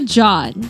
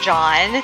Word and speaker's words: Jeanne: So now let's welcome teacher Jeanne. - Hi everyone! So my name is Jeanne. Some pronounce it as Je-anne. But it's Jeanne.